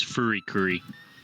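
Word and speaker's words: FuriCuri: the actual name is fury curry rather than politically oh so it's oh wait because the japanese can't pronounce l yeah because they don't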